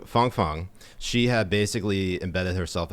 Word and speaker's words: Fang Fang: comes to i believe her name is fang fang and uh or christine thing i think that's fun sorry i apologize we had china uncensored on the show and so we got the correct pronunciation oh it's just not sounding so nice nice um so fong fong she had basically embedded